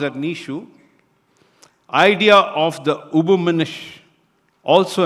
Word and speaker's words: Nietzsche: Friedrich Nietzsche, pronounced as Nietzsche, idea of the Übermensch also embodies this principle, where individuals must dissolve old morality and conditioning to evolve into self-created beings.